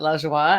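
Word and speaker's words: Lajoie: was like giggling here my last name is Elijah wah my name is Lajja wah and la joie means joy and French you love it well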